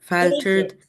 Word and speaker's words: faltered: faltered. F-A is pronounced as O.